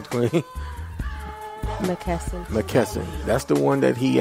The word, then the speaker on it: McKesson: Why you pronounce his last name, Queen? McKesson.